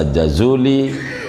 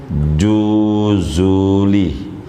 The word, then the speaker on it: Jazuli: Saudara boleh baca Jazuli, saudara boleh baca Juzuli, silahkan saja bacanya, itu suka-suka. Lagi Arab gundul ya kan, boleh. Tapi orang Maroko menyebutnya Juzuli, orang Maroko menyebutnya Juzuli.